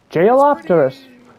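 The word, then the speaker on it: Jeholopterus: Jailopterus. That's how you pronounce it.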